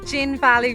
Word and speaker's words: Zhinvali: Our first stop on our road trip is a place called Zhinvali Reservoir. You can see it here behind me. It's spelled with a Z but sounds like a G.